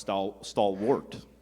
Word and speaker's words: stalwart: Caitlin, your word is stalwart. It could also be pronounced stalwart.